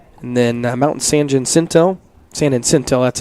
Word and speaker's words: San Jacinto: And then Mountain San Jacinto, that's how you say it.